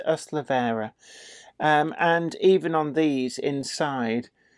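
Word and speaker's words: Ystalyfera: This is from the same valley, and that is pronounced Ustlavera, just in case you were taking a running jump up and thinking, my word, how on earth is that pronounced? That is Ustlavera.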